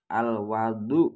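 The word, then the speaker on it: وَضوء: kalau di fathah wawunya kalau di fathah wawu berarti membacanya al-wadu ya bukan wudhu kalau Al Wadu itu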